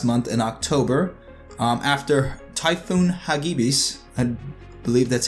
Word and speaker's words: Hagibis: It started full service a little bit at the end of last month in October, after Typhoon Hagibis, I believe that's how it's pronounced.